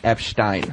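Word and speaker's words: Epstein: And also, for the record, it's pronounced Epshtein. Epshtein. Epshtein.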